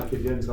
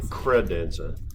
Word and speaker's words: credenza: The registry box, when you're standing at my desk, it's inside my cadenza on the top left. Cadenza. Yeah. Credenza.